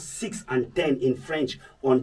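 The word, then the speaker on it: six: I said when pronouncing 10 and 6 on their own, you sound this, 6. But when followed by a word that starts with a consonant, the X is silent.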